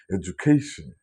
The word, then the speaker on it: education: So the first part is edu and the second part is ഖേഷൻ, education. Education, that's the correct pronunciation of this word.